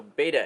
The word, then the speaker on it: beta: So you may be like, James, why do you keep saying betta and also beta? And that's because there's two pronunciations, the proper one and the one that most people say.